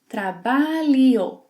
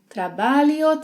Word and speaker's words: trabalho: The trick to master the LH sound is to replace it by Li, li, li, and then say the new word twice, trabalho, trabalho, and then speed it up, trabalho, trabalho, trabalho, trabalho, which means work.